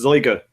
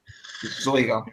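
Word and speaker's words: Zeuge: and I think his name is Zyga. Person pronounces his name right on any boxing podcast, so it's Zyga. Zoiga, yeah.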